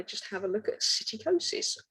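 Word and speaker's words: psittacosis: have a look at cyticosis which as you can see is spelt with a p and not an s so cyticosis also known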